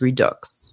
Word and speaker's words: Redux: will say one thing as a French person I do pronounce the X in Redux so I was pronouncing it wrong it is Redux Robin thank you so